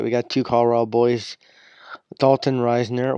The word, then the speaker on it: Dalton Ryner: got two Colorado boys Dalton Ryner which I mispronounced his name I call him Dalton ryzen I think ryzen s better but D Dalton Ryner and they got Joan